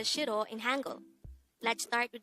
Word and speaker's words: 싫어: Shirro. This is pronounced as a two syllable word. The first syllable is shir. The second syllable is o.